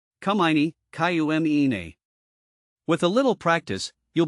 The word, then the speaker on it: cumini: But fear not, pronouncing it is easier than it seems. Here's a quick breakdown. Syzygium, Syzygium. Cumini, Cumine.